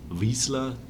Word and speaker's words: Vizsla: Mike Konnert ist bei mir Vizsla, so spricht man die Company aus.